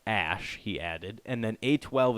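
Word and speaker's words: Æ: And then AE is pronounced like Ash, he added.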